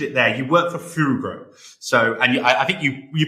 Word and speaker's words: Fugro: and you do have that the G, which is basically the way that Dutch pronounce the G, is Fugro.